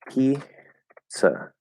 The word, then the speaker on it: pizza: it like English, but in English we do it's pizza. So this is another case where we have that TS where there's actually no T there. Pizza, pizza, pizza, pizza, pizza. There's just a schwa at the end.